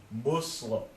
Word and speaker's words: Muslim: not it's it's moose moose like Puss we don't say posse we say puss it's almost like saying